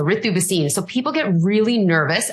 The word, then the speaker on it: Ritu Bhasin: so I think but I go by the the Indian pronunciation so arithuba scene so people get really